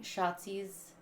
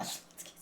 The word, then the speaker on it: Shotzi: I feel like they should have used it to, like, they're building Shotzi's character. Is that how you say her name? Yeah. I just want to say Schlotsky's, but I know it's not Schlotsky's.